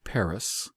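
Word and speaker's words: פרס: But it is phonetically in Obri, Paris and Madi.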